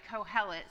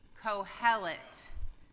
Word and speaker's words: Kohelet: All right, so I mentioned this word already, Kohelet. Say it with me. Kohelet.